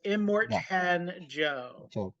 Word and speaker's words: Immortan Joe: um immortan I'm gonna get his name wrong immortan Joe I believe that's how you say it um I think that's right let me look up the cast for you yes so it is immortan Joe uh one letter off from Immortal which I